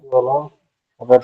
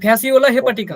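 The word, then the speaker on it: Fasciola hepatica: যকৃৎ প্রেমীর উচ্চারণ কি? ফ্যাসিওলা হেপাটিকা। ফ্যাসিও, এই যে ফ্যাসিওলা হেপাটিকা, ফ্যাসিওলা ঠিক আছে?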